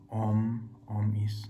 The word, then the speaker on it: Om: So if when we chant, we say Om, there's 3 syllables inside. Om, A, U, Ma. These combined together will be Om.